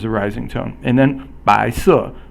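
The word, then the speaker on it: 白色: 白 is second tone, and 色 is fourth tone. So the second tone is a rising tone, and the fourth tone is a falling tone in Chinese.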